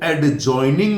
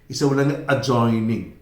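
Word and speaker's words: adjoining: बहुत अच्छा शब्द है इसका पहले तो प्रोनाउंस में दी साइलेंट है इसका उच्चारण नहीं होगा इसलिए इसको एडज्वाइनिंग नहीं बोलेगा जॉइनिंग एडज्वाइनिंग एडज्वाइनिंग नहीं बोले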